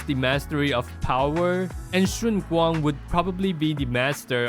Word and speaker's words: Shunguang: I don't know how to say it in English, but this is how we pronounce it. Shunguang. Shunguang.